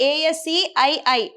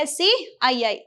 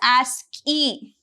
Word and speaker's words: ASCII: And here you can see ASCII code and how we are going to pronounce this ASCII. That is what? ASCII. We are not going to call this as a ASCII. Instead of that, we are going to call that as ASCII.